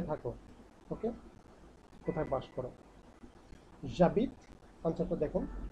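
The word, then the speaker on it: J'habite: জাবিদ আনসারটা হলো জাবিদ জাবিদ যে অ্যাপোস্ট্রপ এইচ এ বি আই টি হ্যাঁ উচ্চারণটা হলো জাবিদ জাবিদ জাবিদ আ পা আগি কিভাবে হলো উচ্চারণটা দেখুন ই তো আমরা নাচটা উচ্চারণ করবো না তাহলে আবিদ টি পর্যন্ত থেমে গেছে তাহলে জাবিদ এন্ড দেন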